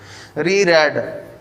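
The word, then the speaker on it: reread: री रेड, रेड के मैंने पहले बता दिया था, मैंने कहा ये फर्स्ट फॉर्म आए तो रीड पढ़ना है, सेकंड और थर्ड फॉर्म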